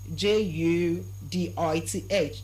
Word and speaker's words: Judith: I said the name is pronounced as what? Judith. It's pronounced as what? Judith. And not Judith. It's not Judith. Everywhere you have a words with letters th giving you the sound change it to the sound. And how do you pronounce the sound? Just place your tongue in between your teeth and try release some air.